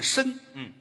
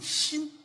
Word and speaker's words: 莘: 辛，哦，这是一个多音字，也念申，莘莘学子，搁在姓这儿念辛，辛姚琴。